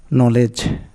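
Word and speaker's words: knowledge: rule number one শব্দের শুরুতে কে এন থাকলে তার উচ্চারণ হবে এন এক্ষেত্রে কে অনুচ্চারিত থাকে যেমন নলেজ মানে জ্ঞান এখানে কে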